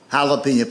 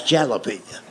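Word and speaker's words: jalapeño: That's jalapeno. And I made the mistake of trying to explain that to him. I said, I know it's a J, but it's pronounced with an H.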